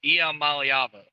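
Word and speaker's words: Iamaleava: DG is that you you pronounce Nico's last name wrong it's not am it's IAM malava I cover Tennessee so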